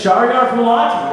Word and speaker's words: Shahriar Fouladi: If anybody's curious how to say his name again, it's Shahriar Fouladi, right there.